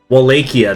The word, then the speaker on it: Wallachia: Wallachia, that's it. That's how it's pronounced.